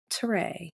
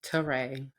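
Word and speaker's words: Téray: I'm like, the same way you can pronounce the E in Beyonce as an A, that's all that it does. It just tells you that the E makes an A sound. Teray.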